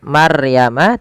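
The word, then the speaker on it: مَرْيَمَ: Kemudian pelafal maryama di sini ada bacaan ro tafkhim yang di mana rnya wajib kita bukan wajib rnya dibaca dengan tebal ya tidak dibaca dengan Maryama tapi dia maryama maryama kemudian albayyinat panjang nanya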